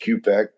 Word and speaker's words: Ciupek: My name is Q-Pek, but it's spelled Ciupek. It's a Polish name, but pronounced Q-Pek.